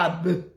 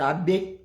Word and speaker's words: Abe: Ce n'est pas Abe, c'est Abe. Camerounais né au Cameroun. Ne serait-ce que les noms portés par les Camerounais, tu ne sais pas prononcer. Ce n'est pas Abe. Abe, c'est autre chose. C'est Abe.